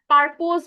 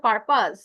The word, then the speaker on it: purpose: পারপোজ বললেন, উচ্চারণটা পারপাস, পারপাস।